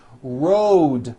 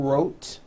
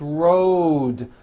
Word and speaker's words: road: with a voiced D Road also has a voiced D ending Road it's not wrote unvoiced it's rode the whole word is voiced let's go over these